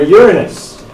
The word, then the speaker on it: Uranus: so they're all named after the Titans for Uranus again that's how you pronounce it thanks all of its moons are